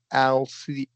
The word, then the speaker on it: Althea: So now remember the pronunciation of the character's name is Wide Althea. Althea, Althea, That's good.